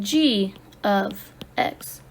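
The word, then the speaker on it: g(x): If you saw function notation like this, you would pronounce it g of x.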